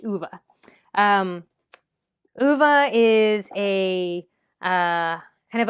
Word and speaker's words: Ove: And I listened to the audiobook, so I know that this is pronounced Uva.